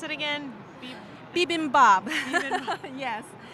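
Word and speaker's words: bibimbap: food service people today so how do you pronounce it again bibimbab yes it's a very colorful dish and you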